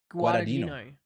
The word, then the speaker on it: Guadagnino: How do you pronounce his name again? Guadagnino. Luca Yeah. Guadagnino for Bones and All.